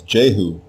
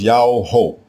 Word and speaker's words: Jehu: The royal name everyone mispronounces today as Jehu is spelled with a single letter Yah as the prefix diminutive form. The king's name is not Jehu. It is Yao-ho, Yao-ho.